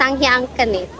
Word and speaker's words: Sanghyang Kenit: The pronounce is Sanghyang Kenit.